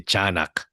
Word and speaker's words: Tiyanak: Yeah, so the pronunciation is actually Chanak.